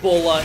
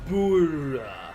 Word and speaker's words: Bulla: Even though they know that Bulla is wrong. Bura. Yeah, it's like Bura. Bra. It reminds me of her name is Bra, but in Japanese it's Bura.